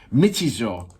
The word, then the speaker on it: Michizure: In our previous episode going viral, the first take of sorry, I'm gonna go back to it to pronounce it right. Michizure.